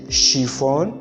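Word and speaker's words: chiffon: other pronouns as sh because as our french pronounce it so we don't say chef we say chef we say shifon we say suffer sachet and you say sashi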